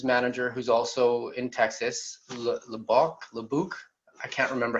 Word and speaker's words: Lubbock: We have a dispositions manager who's also in Texas, Lebuc. I can't remember how to pronounce it. And then we have, what's that? Is it Lubbock? Is that the way? Yes. Yeah, Lubbock.